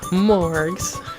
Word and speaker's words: Morgs: So from now on, I'm gonna call you Morgs. M-O-R-G-S. And with a hard G. Not a soft one, just so there's no confusion.